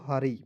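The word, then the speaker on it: hurry: आर वाई पढ़ेंगे दोस्तों हरी देखिए ना यू का उच्चारण आपको नहीं करना है ठीक है जैसे मैंने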